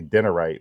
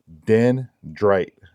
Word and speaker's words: Dendrite: dendrite large sling bag I had to think about how to say it because I always want to say derite but I know it's not denite it's Den Dr bag and this is the